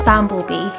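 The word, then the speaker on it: Bamblebee: going to continue I've been saying his name wrong it's bamble bee bamble bee bamble bee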